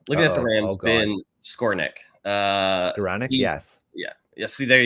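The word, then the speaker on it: Skowronek: It's Skornick, ladies and gentlemen.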